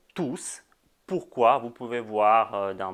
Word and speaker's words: tous: On prononce S dans le mot tous.